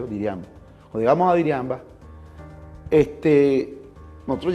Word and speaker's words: Diriamba: Cuando nosotros llegamos a Jinotepe, y eso fue en Diriamba, Diriamba que se llama, se pronuncia Diriamba.